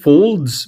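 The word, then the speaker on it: faulds: Um, so it's f a ws rhymes with folds, but it's folds if you pronounce it.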